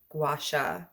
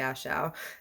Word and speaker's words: gua sha: guy right here uh guasha massage tool i really want to call it a gashal and it's not that it's a gua sha so i'm probably gonna